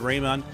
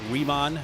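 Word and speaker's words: Raimann: of buzz is bernard raymond uh out of austria i gotta get pronunciation right riemann and then there's also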